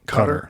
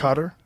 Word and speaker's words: Qatar: Cutter. Is that how you say it? I think so. Cutter. Yeah. Cutter. I've heard it said a bunch of different ways.